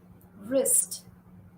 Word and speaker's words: wrist: Claw, W is silent. Wrist, okay.